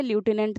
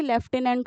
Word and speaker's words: lieutenant: लिखा इसे ल्यूटिनेंट जाता है, लेकिन प्रोनाउंसिएशन इसकी लेफ्टिनेंट होती है, इसमें एफ साइलेंट होता है।